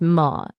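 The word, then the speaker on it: ماء: Arabic is Ma, pronounced Ma.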